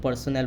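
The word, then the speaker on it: personnel: देखो स्पेलिंग में था PERSONNL, इसको क्या बोला जाता है, पर्सनल बोला जाता है।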